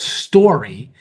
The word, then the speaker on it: Storie: There's something called Story. It's spelled Storie, that they're working on possibly bringing to the area.